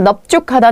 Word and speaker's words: 넓죽하다: 근데 요 단어들이 될 때가 있어요. 넙죽, 넙둥, 넓적하다라는 말이 만들어져서 나왔을 때는요. 얘네가 원래는 리을이었지만 이때는 뭐라고 발음하세요? 비읍으로 발음하셔야 됩니다.